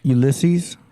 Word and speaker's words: Ulysses: Ulysses? Yeah. That's the way you pronounce it.